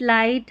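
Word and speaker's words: light: देखिए GH silent कई शब्दों में GH साइलेंट रहता है, जैसे नाइट, लाइट, हाई, राइट, फाइट।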